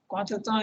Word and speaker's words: contretemps: Contretemps is it's English there, but it's pronounced as in French, contretemps, and it means something awkward, embarrassing, moment, situation, slight disagreement.